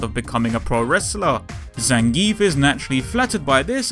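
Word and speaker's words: Zangief: of her wrestling Idols zangie or Zang look I pronounce it as zangi okay I've been saying it that way since 1990 bloody one all right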